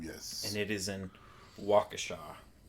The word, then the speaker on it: Waukesha: and it is in Waukesha not pronounced or Keisha yeah however you say